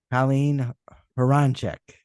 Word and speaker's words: Colleen Hroncich: Colleen Hroncich.